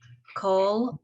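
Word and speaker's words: קול: So it's, Baal- just so you know, Kal. even though I'm sorry, Kal. it should be Cole, it's as if there's an O in there is the pronunciation. Kol Ode.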